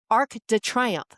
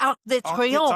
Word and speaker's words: Arc de Triomphe: And then, what is this? Arc de Triomphe. No. It is the Arc de Triomphe.